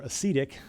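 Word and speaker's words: acedia: we're becoming bored or or acetic that's that's the right way to say it we're losing care um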